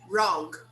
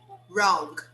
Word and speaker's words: wrong: We don't pronounce the W. We say wrong, wrong, right, right.